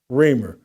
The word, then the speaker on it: Reimer: Reimer is how you pronounce it. Reimer.